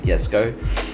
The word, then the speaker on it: Jesko: As we know, it's always the Jesko, Koenigsegg Jesko. That is a correct pronunciation.